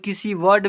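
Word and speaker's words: conceive: इ का उच्चारण। सेवंथ नंबर में जब किसी वर्ड में इ आई आए तो इ आई को बड़ी ई से पढ़ते हैं।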